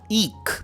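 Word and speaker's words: eke: ईक pronunciation ध्यान रखें ईक आउट ईक out word का मतलब है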